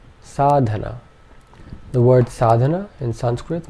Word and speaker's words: sadhana: da na so this this word would be pronounced sadana sadana sadana sadana and finally sadhana sadhana the word sadhana in Sanskrit means spiritual practices